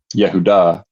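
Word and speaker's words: יהודה: as you probably know, in in Hebrew is pronounced uh Yehuda.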